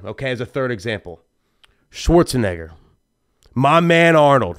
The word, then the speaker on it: Schwarzenegger: so Schwarz and Egger Schwarzenegger Schwarz and Egger bam you know what I